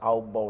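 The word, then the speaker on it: Aufbau: এই এক নাম্বার এক নাম্বার হচ্ছে আউববাউ নীতি। একটু ভালো করে খেয়াল করো। এইযে আউবাও দেখ এই আউববাউ কিন্তু কারো নাম না।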